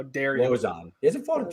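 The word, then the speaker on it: Lauzon: Even though you were still mispronouncing it, it's Joe Lozon. How dare you? Lozon.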